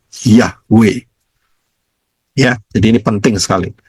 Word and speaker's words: Yahweh: Bacanya dari kanan. Yod, He, Waw, He. Jadi bacanya Yahweh. Bukan Yehova, ya, bukan Yahuwah, bukan apa, bukan Yahova atau apapun, bukan. Salah semua itu. Yang betul adalah Yahweh.